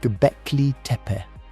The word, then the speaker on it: Göbekli: The place is called Gbecke. You can say it like this. G Beck.